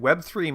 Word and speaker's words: Web3: say that they're a Web 3.0 service. And no, I'm sorry. You said it wrong. It's Web 3, sir.